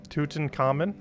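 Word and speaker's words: Tutankhamun: about pronouncing her name tutankhamen you don't want to stress on the third tootin common there's no cat in that though it's more like a toucan but 210.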